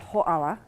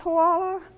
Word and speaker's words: Hoʻala: know how to pronounce Hoʻala, or to remember it, or to even type it because it has the glottal stop and has the kahako over the A, we have to change the name.